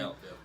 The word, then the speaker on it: Gallup: Gallup, yeah.